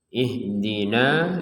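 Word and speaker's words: اهدنا: Jadi ihdina ini panjangnya harusnya sebenarnya 2 harokat. Jadi kalau kita baca ihdina saja itu 2 harokat.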